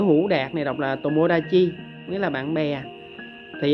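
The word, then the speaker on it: 友達: Trong trường hợp này nó không đọc là Jiu Ta Trừ, nó đọc là Tomodachi thì các bạn nhớ là nó đừng đọc bằng hệ âm cưng á.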